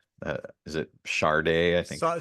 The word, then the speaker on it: Sade: So it sounds like is it Sade? I think you pronounce Sade, it.